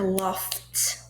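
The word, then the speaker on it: laughed: e, então, love, l a u gh é o verbo no final, por ser um verbo regular, é só colocar o ed, mas aqui é aquela pronúncia do T, então fica loft, loft hill de uma tartaruga lenta.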